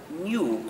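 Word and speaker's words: GNU: entonces cuando hagas castellano es mejor al pronunciarlo new como si comenzaron por en lo que es también el nombre del mismo animal en castellano entonces y en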